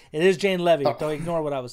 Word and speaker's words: Jane Levy: or at least saying it correctly it is Jane Levy so ignore what I was saying but uh